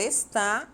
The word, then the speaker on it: está: tônica é o és e esta Jana palavra está a sílaba tônica é o tá e observe as